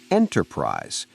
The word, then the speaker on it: enterprise: In enterprise, the stress is on the first syllable and the word is shorter.